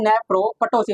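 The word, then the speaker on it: nephroptosis: English में क्या Boleng नेफ्रो पोसिस इसमें पी साइलेंट होता है तो क्या हो गया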